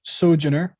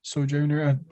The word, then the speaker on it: Sojourner: signs of the sh sojourner so junior i don't know yes yep you said it right the second time a journey okay uh